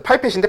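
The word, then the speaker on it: pipette: 그래서 정확한 부피를 옮겨야 돼서 눈금을 보면서 쓸 거면 이걸 써야 되는데 얘 이름이 피펫입니다. 파이펫이라고도 하고요. 정확하게는 이제 영명은 파이펫이 맞으니까 영어 발음은. 그래서 파이펫인데 피펫이라고도 하고요.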